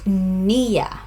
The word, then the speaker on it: niya: So pronunciation, it's niya. It's on the first syllable, niya.